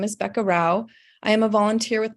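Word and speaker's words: Rouch: so again the next uh speakers are Rebecca Roush and Christy Haas Howard whenever you're ready hello uh Rebecca Rao is spelled r-e-b-e-c -a-r-o-u-c-h thank you for the opportunity to testify my name is Becca Rao I am a volunteer with Mom's clean air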